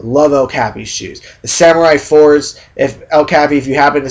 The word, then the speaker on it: samurai: I know I pronounce it a little bit different, but I'm just pronouncing it the Japanese way, samurai. Different pronunciation, same spelling, whatever.